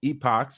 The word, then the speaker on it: epoch: personally you know because these epochs or epics how whatever you want to pronounce them I pronounce yeah Epoch there you go Epoch uh they've